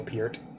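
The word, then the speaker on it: Neil Peart: definitely need to listen you to some neil piert and then also find out that his name is pronounced piert russia's hype rush is very good very very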